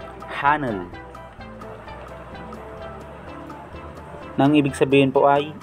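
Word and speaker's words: 하늘: Kaya ang bigkas po nito ay Hanul. Hanul. Hanul.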